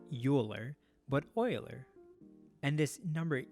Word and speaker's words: Euler: euler's number after leonard euler probably top three greatest mathematician of all time his name is not phonetically pronounced so it's not euler but euler and this